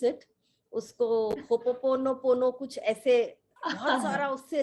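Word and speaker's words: Hoʻoponopono: To pronounce it, उसको होपोपोनोपोनो कुछ ऐसे, बहुत सारा उससे रिलेटेड है, तो इस पर हाँ भी आप थोड़ा प्रकाश डालिए। हाँ, सो इसको बोलते हैं हो ओपोनो पोनो। ओके।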